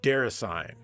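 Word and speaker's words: Déraciné: It's gotta be pronounced Derasane.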